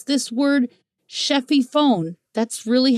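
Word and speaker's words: שפיפון: the Strong's Hebrew concordance and it's this word sheffy phone that's really how it's pronounced sheffy phone and it is derived from the root term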